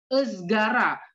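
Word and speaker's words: ızgara: Nah, kalau I yang nggak ada titiknya itu cara membacanya sama seperti bahasa Indonesia itu esgara, emas, elang, adem, segar, semangka, semangka, atau emas. Emas sih paling gampang sih contohnya.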